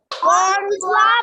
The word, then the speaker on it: bonsoir: That is because when you have OI together in French, pronunciation will be OUA.